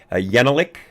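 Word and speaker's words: Jekielek: You've got Steve Deese, again, Larry Elder, and of course, Jan, I believe his last name is pronounced Yenelik.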